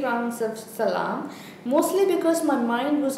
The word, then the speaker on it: Salaam: I did 3 rounds of salam. Is that the way to pronounce it?